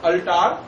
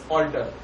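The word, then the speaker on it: altar: Then अवतार फॉर अल्टार, but actual pronunciation is ऑल्टर। यहाँ पे प्रोनाउंसिएशन ऑल्टर है, हमने इसका जो दिख रहा है हमें दैट इज अल्टार, उसका प्रोनाउंसिएशन चेंज करके अवतार बनाया।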